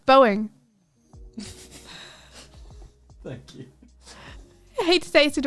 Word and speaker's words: Boeing: you mean what by boang hasz boang killed can you say boing please is that how you say it yeah Boeing yeah okay Boeing thank you I hate